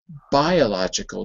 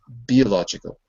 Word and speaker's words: biological: But that's the same reason why I said it's biological, not biological. It's bi because bi is a separate syllable, and the vowel ends the syllable. There's nothing else after the letter I. It ends it.